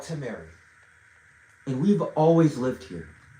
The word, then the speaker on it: Tameri: If you can use your two eyes, it says Tamary. It is spelled T A M E R I. Tamary.